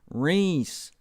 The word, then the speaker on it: Reese: Oh, David says, I'm saying it wrong. Reese. Why is he not correcting me? I've been saying Rice this whole time. Reese.